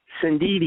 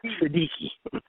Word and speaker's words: Sindidi: Sindidi, Sindidi. not Siddiqui. Okay, Sindidi.